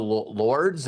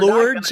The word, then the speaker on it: Lourdes: the Lady of the Lords. Am I saying that correctly? But we're Lourdes, I think, is what it's pronounced. Okay. Even though it's spelled that way, but I think it's pronounced Lourdes.